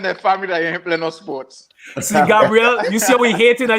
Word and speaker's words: Gabrielle: question here from um Gabriella uhuh and her was which no no Ella No Ella just Gabrielle Gabrielle I apologize for